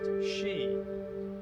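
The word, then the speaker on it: 四: not four but five four can be pronounced she a Japanese homonym for death incidentally Japanese hospitals have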